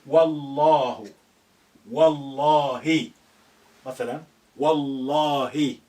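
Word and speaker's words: والله: But if you put wow there, by God, you say Wallahu, not wa Allahu. You say Wallahu. Wallahi. Mathalan, Wallahi. Wallahu.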